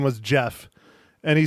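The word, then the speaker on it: Geoff: said that okay yeah it's Jeff g e o f f it's Jeff not g off oh Mike oh oh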